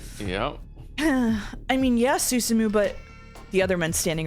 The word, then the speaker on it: Susumu: Its current leader is Suzumu Nishiawa.